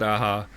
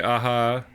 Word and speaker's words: Aja: And he said "aha," but that seems weird. And in another interview, he said some people say aha. I'm from Spain. It said aha there.